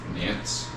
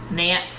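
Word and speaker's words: Nantes: Nance. Nance.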